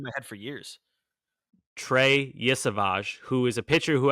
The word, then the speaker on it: Yesavage: Is that really how it's pronounced? Yeah. Yesavage? Eastern Carolina. Damn. All right. I've had that wrong in my head for years. Trey Yesavage, who is a pitcher who has injury issues